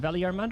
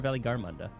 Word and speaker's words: Valigarmanda: Oh, so he's saying with hard G. So is it Valigarmanda or Valigarmanda? I guess either or.